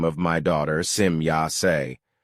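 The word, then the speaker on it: Semjase: my daughter Sim Yas when the e at the end of the name is pronounced as I in English. Simyas is a very old name which we play took from an old Lyron dialect. It means the demigoddess. But if the e at the end of the name is pronounced as I as it for example done in the English language then this results in a very evil unvalue.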